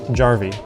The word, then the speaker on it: Jarvi: Jarvi.